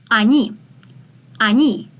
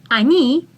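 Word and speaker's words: они: here e is stressed so we pronounce the first letter as a ani ani means they ani ani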